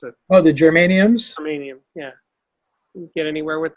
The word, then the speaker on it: germanium: that try that big transistor you showed me geranium I always mispronounce it well the germanium selenium yeah get anywhere with us no I